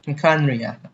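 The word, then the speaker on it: Khaenri'ah: Yeah, Oh yeah, after we've dealt with the monsters, we should ask her to tell us more about Conria. Kanria. That's how we pronounce Kanria.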